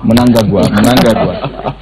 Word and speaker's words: Mnangagwa: Pronounce it again? Mnangagwa.